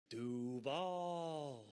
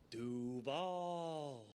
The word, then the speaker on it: Duval: win, they have to change how they say Duval. Then they all have to say Duval. Like, they have to. Duval.